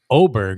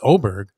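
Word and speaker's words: Åberg: I'm tempted to take 25-1 on Sarni's favorite player, Ludwig Oberg is how you say his name. It's spelled Aberg, Yeah. pronounced Oberg.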